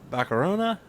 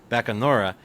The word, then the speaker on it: Bacanora: He's the founder, master distiller of Kolinga Bakarona. I probably butchered that. Bakanora.